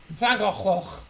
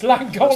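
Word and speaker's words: Llangollen: Flangochlin. Oh my god. That's how I pronounce Flangochlin. Langollen. It's Langollen.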